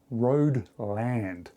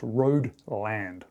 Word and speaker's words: Hruodland: It is pronounced Hruodland. R-O-D-E-L-A-N-D almost, Hruodland.